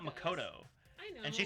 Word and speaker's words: Makoto: She pronounces words wrong too, though. I know. She says Makoto, not Makoto.